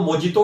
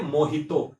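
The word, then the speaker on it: mojito: कहते थे, भैया 2 मोजितो भी दे देना। पढ़ा है आपने? तो लिखते ज लिखते हैं मोजितो, बट उसको बोलेंगे मोहितो।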